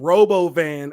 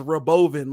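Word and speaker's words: Robovan: called it the Roven he started pronouncing Robo van as Roven like it's going to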